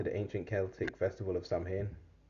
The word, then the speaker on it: Samhain: ancient Celtic Festival of Sam ha right oh pronounced sewing all right the Kelts